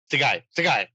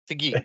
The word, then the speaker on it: Seguin: Seguin. Right? Seguin. Seguin. It's like the hockey player Seguin, right?